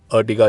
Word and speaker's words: Ertiga: Indonesia में टीगा को 3 बोला जाता है एंड R स्टैंड फॉर रोज, तो R3 आर्टिगा, अर्टिगा इसलिए प्रोनाउंस करते हैं हम।